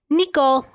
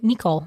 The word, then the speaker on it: Nicole: Yeah, Meme and Pepe, and when I lived in Belgium, everyone would pronounce my name Nicole, not Nicole. Nicole. And I like that actually more.